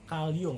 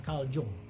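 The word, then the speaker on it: Carl Jung: yang bernama call Young dibacanya kalium ya bukan kalau Chung dia ini seorang psikolog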